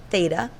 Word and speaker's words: theta: it's always meant for an angle but it's pronounced theta is equal to the opposite that's where the